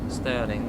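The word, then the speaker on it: Stirling: only in 5 minutes Sterling is just one of those cool sounding places like St stering Alo the the money Great British pound the pound sterling I know it's spelled differently but I don't like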